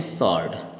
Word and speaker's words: sword: हम पढ़ते हैं SWORD, इसको स्वॉर्ड बोलते हैं कई लोग, स्वॉर्ड, है ना, स्व कर देते हैं आधा सा लगा के, और वो जब इसको क्या बोलते हैं, हम इसको बोलते हैं सॉर्ड।